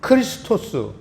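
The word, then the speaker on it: Χριστός: 그 두 번째 보면 크리스토스 이걸 이제 우리 한글식으로 토를 단계 그리스도인데 사실은 크리스토스입니다 크리스토스 이거를 영어에서는 크라이스트 우리나 뭐 미국이나 크리스토스를 자기네 나라식 발음으로 이제 만든게 우리는 그리스도 크리스토스라는 뜻은 그리스도라는 뜻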